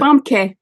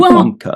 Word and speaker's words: Famke: That's how she pronounces it? Famke. Oh, see, I was always saying Famke. That's the Dutch.